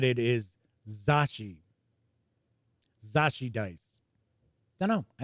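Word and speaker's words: Zocchi: And that is how I've been told it is pronounced. Zachi. And that comes from somebody who knows Lou Zachi. So I know some people said in chat before it's Zaki.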